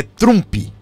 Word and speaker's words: Trump: Aí se pronuncia Trump. ou o americanizado vai mais longe ainda, né? Trump. Então, né? Mas aqui no Brasil nós falamos Trump, nos states fala mais chup, mais fechado, né?